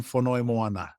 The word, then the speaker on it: Fonoimoana: You probably have someone last name you got to pronounce. So it's Fonoimoana.